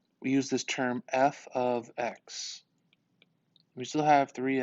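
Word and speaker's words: f(x): known as the input okay again this is pronounced f of x what that means is that whatever you see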